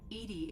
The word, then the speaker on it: EDI: reminded me the airlock is a jar Ed Edie is the phonetic pronouncing I love Joker my